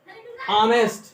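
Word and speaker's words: honest: इफ the word is started with the एच and pronunciation ऑनेस्ट, ऑनेस्ट है, आ रहा है, pronunciation आ है, तो इसके पहले कॉन्सोनेंट रहने पर भी एन लगता है.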